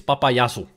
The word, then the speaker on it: Papayasu: It's Papayasu. That's how you pronounce it.